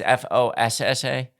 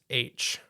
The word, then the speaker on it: fossa: Fossa is how it's pronounced, as far as I've seen on nature documentaries and everything like that. Okay. Like I said, white people Right. pronounce it Fossa. Okay. Like it's very different when you listen to some native Madagascarians talking about them. Okay. I can't do it. It's just not a word I could pronounce. Okay. Like I said, it's Foosh. Yeah. Is how they pronounce it.